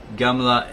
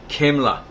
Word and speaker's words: Gamla: The Latin letter C from which the English letter is derived is due to the mistake of the Romans, who pronounced Gamla as though it were Kamla.